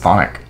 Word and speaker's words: chthonic: It's actually not pronounced chthonic. It's pronounced thonic. It's just thonic? Yeah. Why do they have the CH there? It's just the way it is, baby. It's like chthonic. What is the origin? It's from Greek.